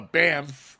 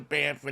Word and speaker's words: Banff: drove from here to banford and down through sorry how did you pronounce that how did you pronounce the name of that town Banff there you go man yeah it's two F's my only rule about